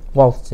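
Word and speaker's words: Walz: 그 사람 발음을 월스라고 그래요? 월스.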